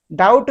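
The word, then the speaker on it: doubt: हमारा W silent है, डाउट में हमारा बी साइलेंट है, ऑफन में हमारा टी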